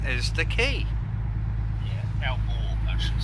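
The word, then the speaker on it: Aalborg: Pronunciation is the key. Yeah, Elborg, I should say.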